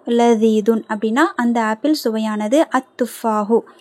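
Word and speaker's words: التفاح: சோ அத்துபாஹு லதிதுன் அப்படின்னா அந்த ஆப்பில் சுவையானது அத்துபாஹு தா வந்து ஷம்சியோட எழுத்து அப்ப லாம் உச்சரிக்கப்படக்கூடாது அத்துஹு லததுன் சரிங்களா சோ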